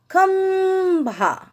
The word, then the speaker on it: खंभा: खंभा, देखिए आधे म का उच्चारण आ रहा है। खंभा।